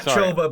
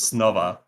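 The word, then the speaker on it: Снова: But it's not Choba because it's Cyrillic, and I have no idea how you actually pronounce it. But I think it was Snova.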